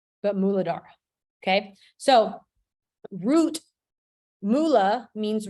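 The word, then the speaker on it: Muladhara: the root chakra but in Sanskrit it's called muladara and I probably am not even pronouncing it right but muladara okay so root Moolah means root in Sanskrit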